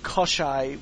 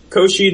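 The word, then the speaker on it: Koschei: very clearly Germanic and kosai would be the way You' pronounce that in German however Koshi the deathless was a Slavic myth maybe I think either one works to be honest yeah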